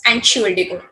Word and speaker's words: Entschuldigung: This is your formal way, but when you are using in a very casual way, so it becomes Entschuldigung.